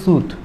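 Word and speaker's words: soothe: কিন্তু সুদ, এই উচ্চারণটা হচ্ছে সুদ, যদি ভালোভাবে উচ্চারণ করতে চাও, সুদ মানে হচ্ছে কাউকে ঠান্ডা করা, সুদ।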